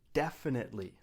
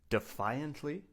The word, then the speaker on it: definitely: The next word on our list is the word definitely. Definitely. Definitely. Now be careful. We do not say defiantly. That's a different word. We say definitely.